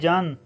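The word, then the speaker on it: 잔: असल में ये लफ्ज़ है छन, लेकिन जब इसे आप प्रोनाउंस करेंगे इसकी सेकंड साउंड प्रोनाउंस करेंगे जन।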